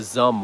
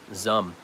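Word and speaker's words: Xumm: i really really like the zum wallet and that's spelled x-u-m-m-x-u-m-m zum it's the same developers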